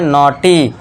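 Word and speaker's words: naughty: एन के लिए न लिख दिया। ए यू ऊपर चंद्रबिंदु और इसके बाद जी एच साइलेंट है।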